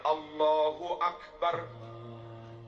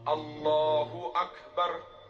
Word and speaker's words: Allahu Akbar: bacanya enggak boleh salah beberapa contoh bacaan Takbir yang salah Allahu Akbar salah bar dibaca Allah dan maknanya beda Allah ak harusnya Allahu Akbar Allahu Akbar tapi ada yang baca